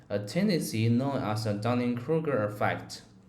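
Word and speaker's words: Dunning–Kruger: tendency known as a Dunning Krueger effect nice a couple of tweaks mastery is mastery and Dunning Krueger is usually said like Dunning Krueger you sounded clear just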